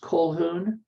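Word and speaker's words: Colquhoun: this the title of the book this is pronounced colhoun it's a Scottish clan name and Neil like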